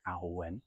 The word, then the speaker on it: Awen: Awen, it's pronounced slowly, A-W-E-N. It's an old Celtic Welsh word, medieval, possibly even older.